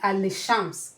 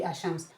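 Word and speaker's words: الشمس: So it's not going to be al-shams. No, it's going to be ashams.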